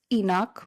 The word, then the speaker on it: Enoch: Now Earth is stabilizing in its new orbit on day one/ Enoch. And coincidentally, Enoch rhymes with epoch.